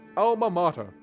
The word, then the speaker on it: alma mater: Alma mater. Yeah, that's how you say it. And I know that because I've heard that before, and I poured my heart and soul in it.